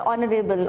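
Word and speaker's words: honourable: एक तो you sounding words, European same category में आता है, और words with begin with H जिनमें एच साइलेंट है, जैसे ऑनरेबल, ऑनेस्ट, आर हो गया, एयर होता है HEIR।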